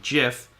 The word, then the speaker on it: GIF: just google it right the inventor himself calls it like the peanut butter ji f even though it spelled gif he says it's pronounced jiff and he want to